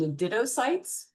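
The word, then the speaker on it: cnidocytes: They have specialized cells called nidtoytes. You don't pronounce the C by the way.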